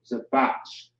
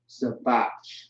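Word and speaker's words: זבח: So Zabach is how you pronounce it. Zabach.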